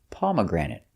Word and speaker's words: pomegranate: Our next one is a fruit and the pronunciation is pomegranate. Pomegranate. Stress is on the first pomegranate. And third syllable pomegranate.